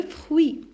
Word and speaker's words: fruits: Et de fruits. Alors, UI, ça prononce oui. Alors, ici, je prononce ni T, ni S.